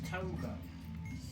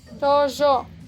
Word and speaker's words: Tojo: Is it Togo? Tojo. How do you spell it? Tojo. J?